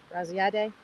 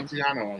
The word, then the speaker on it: Graziadei: Graziadei. I can never pronounce his last name. Graziano, I think. No. No. It's DEI.